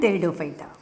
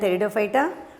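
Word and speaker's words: Pteridophyta: thalophyte thalophyta bryophyta and theodophyta yes p is silent i said do you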